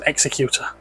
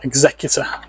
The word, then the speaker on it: Executor: film is Darth Vader executor or executor depending how you want to pronounce it we we